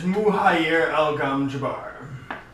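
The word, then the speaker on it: Muhayr Al Gom Jabar: It is Muhayr Al-Gam Jabbar. Oh boy. That's a mouthful. Muhayr Y-E-R. In common, it is spelled M-U-H-A-Y-R space A-L space uppercase G O-M uppercase J A-B-A-R.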